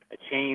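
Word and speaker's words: Achane: How do you say his name? A chain or some shit like that. Yeah, A-Chain. A-Chain. Yep, got A-Chain. Yeah. A-Chan, whatever.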